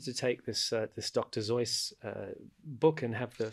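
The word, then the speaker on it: Seuss: of dr zoice right a lot of people mispronounce it as dr zeus but it's actually dr zoice right and i'm a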